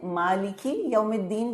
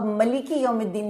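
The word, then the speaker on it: مَالِكِ يَوْمِ الدِّين: سورہ فاتحہ میں مالکی یوم الدین بھی پڑھتے ہیں، یوم الدین کا مالک، اور ملکی یوم الدین بھی پڑھا گیا ہے، یوم الدین کا بادشاہ. دونوں ہی تلفظ درست ہیں، دونوں ہی نبی اکرم صلی اللہ علیہ وسلم سے ثابت ہیں، بس یہ قرات کے الگ الگ انداز ہیں.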